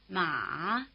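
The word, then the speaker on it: 马: Notice that the tone mark captures at least the dipping contour if not the low pitch.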